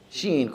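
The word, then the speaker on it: شين: No stretching. The name of the letter is stretched. Sheen, stretched. But when a fatha lands on it, it just retains that single fatha sound. Sheen fatha sha.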